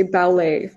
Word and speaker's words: ballet: how you say that the t is silent so you say ballet but it's spelt like